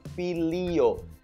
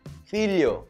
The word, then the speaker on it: filho: filho então o ponto quando você repete várias vezes você nem sequer percebe que você tá fal falando filo filho filho filho Ok joelho e você na